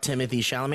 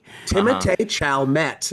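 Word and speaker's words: Timothée Chalamet: take it Tim CH Tim Chalet is how you actually pronounce it Tim chalamet his middle name is something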